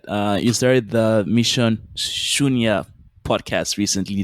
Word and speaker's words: Shunya: you started the mission shunya podcast recently did i pronounce that right yes mission chunya so shunya is a